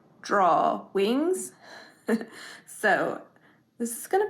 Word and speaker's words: Drawings: is spelled drawings uh I think a lot of people pronounce it or it's supposed to be pronounced drawing wings so this is going